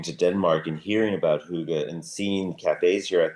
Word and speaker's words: hygge: And you mentioned hygge. Am I pronouncing that right?